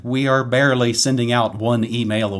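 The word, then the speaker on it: Bayer: just say you know the CEO of buyer pronounces it buyer so I'm gonna go with buyer I know it's bare but I'm gonna say buyer I know it's and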